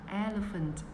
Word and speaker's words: elephant: Đọc sang ơ nhé. Đọc là elephant.